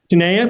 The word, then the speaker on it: Tanaya: Is that how you pronounce it? Tanaya. Tanaya?